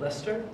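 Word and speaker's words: Leicester: that I'm American uh how do you look it Lester leester Lester yeah Lester yeah all right um right uh I I pronounced it uh so this is a leer le le if you ask me it's leester but Amer I'm American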